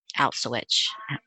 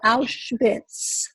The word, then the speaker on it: Auschwitz: for you the first time you went to outswitch i never said it's outfit yeah i'm still not going to say it right sing is like um sweating in uh in yiddish schmitz so auschwitz so i was totally numb i was totally